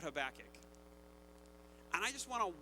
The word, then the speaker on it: Habakkuk: in the Old Testament have a cookie sometimes how people pronounce it but have a cake and I just want